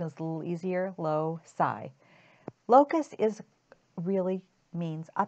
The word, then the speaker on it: loci: marked the long vowels in there so the pronunciation is a little easier low PSI Locus is really means a path and it's